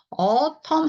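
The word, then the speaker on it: autumn: 가을이라는 단어죠 가을 자 그런데 이거 어텀 하고 읽으시 아아 어텀은 이거는 소리가 아예 없죠네 여기까지 그냥 어하고 읽으시면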